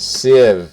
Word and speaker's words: sieve: to come primarily from the companion cell and sieve is how that's pronounced and you probably you may have used